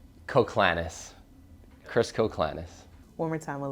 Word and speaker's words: Koclanes: straight for everyone out there how do we pronounce the last name klanis coclanis one more time a little slower yep coclanis okay um so being a video coordinator and